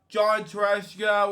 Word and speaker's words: Tartaglia: John Tartaglia, we pronounce it, actor, puppeteer, and director.